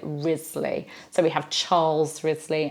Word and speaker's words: Wriothesley: Wriothesley we have well it's pronounced in quite a few different ways it's either Risley or Rhys Lee or even rocks Lee depending on the family and how they've chosen to pronounce it I tend to say